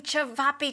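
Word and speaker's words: ćevapi: making cevapi today. Snez, am I saying it right? You're saying it perfectly.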